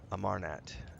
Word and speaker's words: Amarnat: So Pascal thinks this might be it could be an alias of his mentor, the Archmagus Armanat. Sorry, I butchered that. Amarnat.